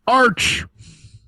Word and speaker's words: Arch: You're pronouncing it wrong. It's Arch.